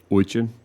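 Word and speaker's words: очень: same way that uh, English speakers can't pronounce um, oin, which is the Russian word for very. So, there's that oi sound that I'm pronouncing wrong.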